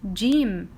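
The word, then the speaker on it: جيم: is letter G and since the sound is Ja its sound is Ja so its name is Jim it's the name as Jim Jim and sound is Je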